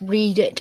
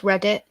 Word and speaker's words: Reddit: I don't think anyone cares if it's pronounced read it or Reddit. Everyone says Reddit.